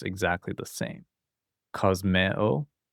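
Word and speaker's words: κοσμέω: kosmeo Notice these two vowels are not a diphthong, so we separate them as two separate sounds. kosmeo eh o phobos phobeo agape You've probably heard that word before.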